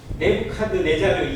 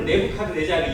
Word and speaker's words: 네부카드네자르: 느부갓네살이 실제 역사에 기록되어 있는 실제 이름이 좀 길어요. 네부카드네자르 2세입니다. 그런데 네부카드네자르라는 영어 단어를 우리가 읽기 쉬운 발음으로 그냥 읽으면 느부갓네살이에요. 실제로 네부카드네자르 2세입니다.